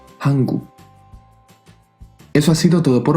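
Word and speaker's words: 한국: Y al final también una K, hanguk.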